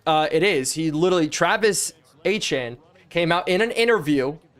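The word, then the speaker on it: Etienne: is actually pronounced as Achan. He actually asked people to name like he's the only Achan. Yeah, it's Travis Achan. It's actually the phonetic pronunciation of the name, actually.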